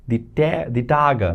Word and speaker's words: Tage: For example, der Tag, that is the day, but for the days, we have the Tage, that is the days. The Tage. E at the end is pronounced as by the way.